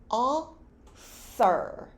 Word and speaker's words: author: 여기서 중간에는 번데기 발음이 납니다. author.